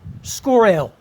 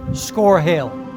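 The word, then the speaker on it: Scorhill: According to Wikipedia, the pronunciation should be Scorehill, but the locals talk about, for example, Anginstone Hill, so I'm going to stick with Scorehill.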